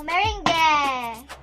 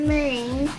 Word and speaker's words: meringue: Alam nyo ba guys, nanggaling ang salita na meringue sa France. Ang tamang pagbigkas ng meringue ay meringue. Paano ulit? Meringue. Tayong mga Pinoy, ang pagbigkas natin ay meringue. Sa Ingles, meringue. Sa France, meringue.